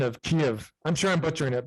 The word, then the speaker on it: Kiev: your favorite recipe and and what's the proper pronunciation of kiev i'm sure i'm butchering it but can you